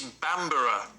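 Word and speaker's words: Bamburgh: It's Bamborough. Bamborough. It's spelt Bamberg, like Edinburgh. Yeah. But it's Bamborough.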